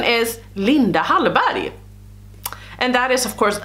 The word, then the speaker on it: Linda Hallberg: Hallberg but we say Linda Halle Berry yeah Linda Halle Berry and that is the Swedish pronunciation of the Swedish Linda Hallberg or Linda hunt body